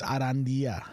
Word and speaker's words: Arandia: to be honest but he does roll his RS now he concentrates on that yeah it's arandia but you don't really roll your RS on that though not really but he does it to